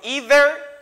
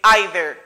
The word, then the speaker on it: either: Ça a gain de son, li ka prononce comme either et either.